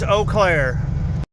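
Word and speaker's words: Eau Claire: 94 west towards Oaklair. They spell it weird.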